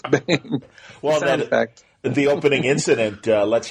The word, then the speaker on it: Bang!: If somebody comes up to me and they're like, "Is it Bang G or Banj?" Yeah, Bang exclamation point. I'm like, no, it's Bang. Well, the opening incident lets you know right away that it's Bang.